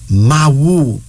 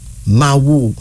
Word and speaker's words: Mawu: Mawu. Mawu. M-A-W-U. That's M-A-W-U. Mawu. According to the Ashanti peoples of Ghana, Mawu is the ultimate queen, the goddess of the universe.